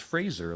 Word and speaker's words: Fraser: or something like that, and it's just Adam Sandler and Brendan Fraser, which he says his last name is pronounced Fraser, like Fraser. razor.